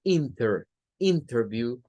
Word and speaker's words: interview: Se escribe con la NT, pero se pronuncia sin la T. Esta regla por lo menos es la que deja clara la brecha que hay, no solo entre el inglés británico y el inglés norteamericano, sino también entre el acento estándar. Si usted esto lo pronuncia como interview, usted está utilizando un acento estándar.